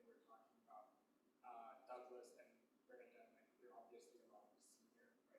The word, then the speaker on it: Bernadette: Like even for me, I very similar to Bernadette. Like, am I pronouncing it right?